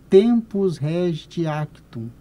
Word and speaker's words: tempus regit actum: por uma expressão em latim é esse se pronuncia tempus regit actum então o tempo que tu exerceu e o